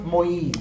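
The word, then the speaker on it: Moïse: pronounced Moise.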